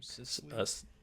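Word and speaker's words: Cecily: Cicely.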